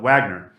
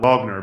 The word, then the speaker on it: Wagner: ingleses lo escribimos así, por lo que los angloamericanos a menudo lo llaman "Wagner", mientras que los anglobritánicos lo llaman "Wogner", porque la gente pronuncia las letras de forma natural y pronuncia la palabra como dicta su acento.